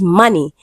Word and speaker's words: money: Now the word is money and letter O is under the line and is pronounced as A.